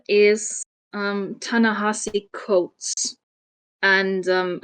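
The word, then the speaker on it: Ta-Nehisi Coates: author's name is um tanasi coats and um I had to look this up because I would have pronounced it as tanes cootes um I would have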